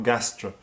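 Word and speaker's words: Gastr del Sol: Gastro is spelled G-A-S-T-R, G-A-S-T-R, Gastro, Del Sol.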